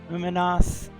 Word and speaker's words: Umanath: Umanath, same sort of reason. Umanath, the main emphasis is on the last syllable.